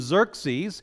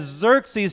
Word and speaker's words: Xerxes: The empire was ruled by a man named Xerxes, and that is spelled with an X, not with a Z.